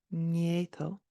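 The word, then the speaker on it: nGéadal: This one is sometimes difficult for people to pronounce. It's an N and a G together. So NG, nieto. That's NG, nieto.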